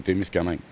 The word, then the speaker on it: Témiscamingue: mais il y a des gens qui disaient Témiscamingue au lieu de Témiscamingue. Mais c'est quoi la vraie et bonne prononciation? Ce qu'on me dit dans les anciens, c'est que c'est Témiscamingue.